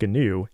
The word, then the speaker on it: GNU: It's pronounced GNU, and it's a project that predates the Linux kernel itself and was started all the way back in 1983 by Richard Stallman.